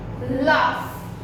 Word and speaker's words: laugh: See, GH is there, but we are speaking F. Tough. Rough. Laugh. Laugh. Laughter. Laughter. So here, this GH, the sound of GH is F. When in these words, we pronounce it as F.